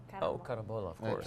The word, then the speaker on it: carambola: How do you say Carambola. that? Oh, carambola, of Yeah, course.